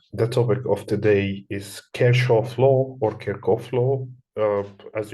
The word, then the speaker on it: Kirchhoff: The topic of today is Kirchhoff law or Kirchhoff law, as you like the way to pronounce his name. He's a German scientist, so we should pronounce it as Kirchhoff law, actually.